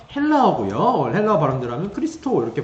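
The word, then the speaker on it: Χριστός: 그리스도 라는 단어는 요 헬라어 구요 오해가 바람들은 크리스토 이렇게 발음이 됩니다 미션 해볼까요 여러분 히브리 옵니다 아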